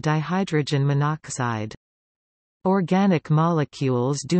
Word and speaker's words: monoxide: Sometimes prefixes are shortened when the ending vowel of the prefix conflicts with a starting vowel in the compound. This makes the name easier to pronounce. For example, CO is carbon monoxide, as opposed to monoxide.